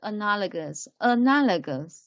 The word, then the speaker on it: analogous: First one is analogous. Analogous is pay attention to G. The pronunciation of G is like g.